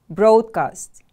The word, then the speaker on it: broadcast: to become widely known broadcast broadcast stress is on the first syllable repeat after me please